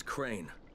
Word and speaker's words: Crane: no my name is crane crane crane rhymes with train and brain and sane and gray and rain and plain and the other kind